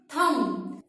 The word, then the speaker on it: thumb: THUMB, थम। Friends, side by side आप मेरे साथ इसे प्रैक्टिस करके देखिए। थम, THUMB, थम। यहां पर हमने बी की आवाज नहीं देनी, बी को हमने साइलेंट करना है।